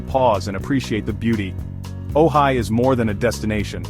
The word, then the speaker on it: Ojai: Welcome to Ojai, pronounced Ojai, a valley of peace, art, and pink sunsets.